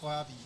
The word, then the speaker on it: Rørvig: So you're from a small town called Rørvig, right? Yeah. Yeah, it's hard to pronounce so Okay. I'm trying not to butcher the names. It's almost correct so proper pronunciation is Rørvig.